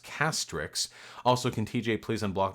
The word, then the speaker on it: Castrix: Hey Vosh, about time I ditched the white name again, which is pronounced Castrix.